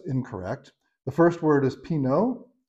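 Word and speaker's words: Pinot: the first word is Pino so you don't pronounce the t p i n o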